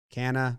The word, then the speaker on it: Canha: jeff mcneal mark connor canna kana every time i say his name i asked that question canna i say canna can he con canha james mccann canna mccann canna on baseball reference got it that's the